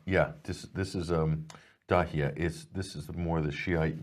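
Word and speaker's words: Dahieh: So in Beirut, in the suburbs, Dahia, is that pronounced? Yeah, this is Dahia.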